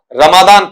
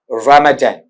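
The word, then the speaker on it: Ramadan: में लिया जा चुका अपन इसे हिंदी में जब पढ़ते हैं तो उसे क्या कहते हैं बेटा आपका रमादान पढ़ते हैं ठीक है लेकिन गौर करना वहां पर जब इंग्लिश में आते-आते इसका उच्चारण होता है तो उसे क्या कहा जाता है आपका रमेजन रमेजन इस तरीके से वहां पर उसे पढ़ा जाता है।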